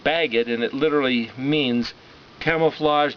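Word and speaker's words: בגד: Bet gimel dalet as a word is pronounced bagged, and it literally means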